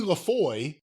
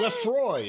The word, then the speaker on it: Lefroy: an article by Emily Lafoy. Is that how you say it? Lafoy? Lefroy, excuse me. Capital L, small a, capital F.